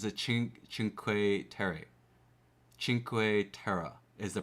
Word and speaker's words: Cinque Terre: So, it's Oh, it's a ch sound. So, it's a chinq. Chinq terra is the pronunciation.